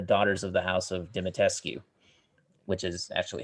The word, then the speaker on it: Dimitrescu: makes up the Daughters of the House of Dimitrescu, which is actually how you pronounce that name.